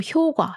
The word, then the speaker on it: 효과: official situations, we read this with a soft 과 sound. So 효과, 효과. So when you watch TV and listen to news, then you will hear 효과, 효과 always. But when casually speaking, we pronounce this as 효과, 과, with a strong 과 sound.